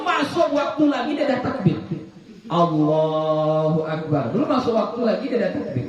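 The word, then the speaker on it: الله أكبر: rusak cara membacanya Nah contoh rusak tadi yang tadi itu Allahu e allahuekbarekbar Nah itu rusak itu itu enggak boleh dia harus Allahu A Ya A jangan e dia a kemudian h-nya H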